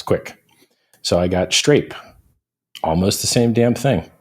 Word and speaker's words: Strape: And then I say like rape, Strape, dude. STRAPE. Yeah, street rape. I'm familiar. So strawberry grape. I'm like, yeah, Strape, like strawberry grape.